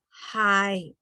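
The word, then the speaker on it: hais: So AI pronounce I, okay? So the long I, okay? All right. And an example of the word is I in English. You pronounce I. And the Hmong word is hi. So AIS, hi.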